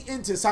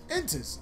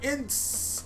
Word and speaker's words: N'tss: I know I've said this card probably 5 million times. The fact that before the video is actually how I figured out how to say it, I was like, Intis. Oh, interesting. I've been calling it Ints the whole time and nobody fucking corrected me.